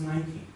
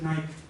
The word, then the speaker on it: Nike: It is late in the years of a language learner that they become aware that actually Nike, it is pronounced Nike. We in Spain pronounce it Nike.